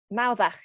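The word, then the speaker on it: Mawddach: Okay, Hannah, back to you for Mauddach. Is that how you say it? It is, yeah, spot on.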